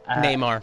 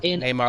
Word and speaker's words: Neymar: cpi na nay marine i believe that's how you pronounce it neymar neymar like the soccer player okay and there